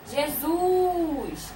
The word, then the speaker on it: Jesus: Como é que se fala Jesus chamando? Jesus! Jesus! Então, qual é a sílaba que você falou com mais devagar, sim, mais devagar e mais forte? Foi o Zuz.